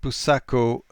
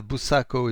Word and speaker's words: Buçaco: I chose to depict Buçaco writing along the Portuguese way, as I did for Rolissa, which means it's a C with that special sign under it, which makes it pronounced as an S, because in English